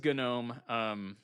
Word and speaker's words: GNOME: So I'm going to call it Gnome, but it is Gnome. Or it is intended to be GNOME, but they're open to you calling it whatever.